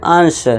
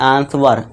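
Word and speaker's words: answer: भी क्या हो जाएगा, डब्ल्यू साइलेंट हो जाएगा, तो इसे हम क्या पढ़ेंगे, आंसर, ना कि आंसवर।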